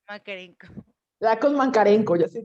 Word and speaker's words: Makarenko: No lo sé pronunciar bien. Mancarenco. Makarenko.